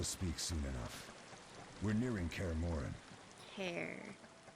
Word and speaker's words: Kaer Morhen: We're nearing Kaer Morhen. Kaer Morhen. So the H is silent.